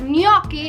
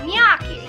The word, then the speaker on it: gnocchi: ricotta is not rakata and you know that gnocchi is not nyaki and you're always correcting